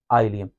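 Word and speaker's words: ileum: मेरे साथ साथ, ड्यूडेनम, जेजुनम, आइलियम। इसको इलियम नहीं पढ़ना, इसको जेजूनम नहीं पढ़ना, इसको डाउडेनम नहीं पढ़ना, जो मैं पढ़ रहा हूं वही पढ़ना है, ड्यूडेनम, जेजुनम, आइलियम।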